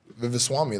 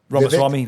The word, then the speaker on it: Ramaswamy: She's like Vivaswamy. Like, how do I say his name? Ramaswamy, Vivek.